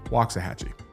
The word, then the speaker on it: Waxahachie: And I was like, well, first of all, said it wrong, Waxahachie.